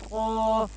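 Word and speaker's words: ت: The tip of the tongue will gently touch the heel behind the upper front teeth.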